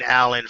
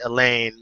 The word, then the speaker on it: Elaine: I've been calling Elaine Alan forever. We go back, to middle school, I want to say, and the correct pronunciation of his name is actually Elaine, Mr. Elaine.